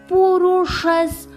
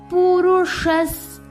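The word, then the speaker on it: पुरुषः: புருஷஸ். ஷா ரெட்ரோஃப்ளெக்ஸ். ஷா நாக்க மடிச்சு உச்சரிக்கணும். இஸ்ல முடிக்கணும். புருஷஸ். புருஷஸ்.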